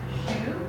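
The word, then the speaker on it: xu: So we have shu, which is pronounced like she with the lips rounded.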